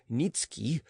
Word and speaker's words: Nietzsche: The family tradition was that a certain Polish nobleman, Nikki, pronounced Nitski, had obtained the special favor of Augustus the Strong, King of Poland, and had received the rank of Earl from him.